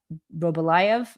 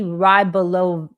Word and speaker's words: Rybolovlev: Dmitry, I cannot pronounce his name all that well, but I want to say Robolayev. I probably have gotten his name wrong. He is able to sell this for $95 million. And the guy who bought this mansion at an extremely high price. And I think I'll say his name right. Dmitry Rybolovlev.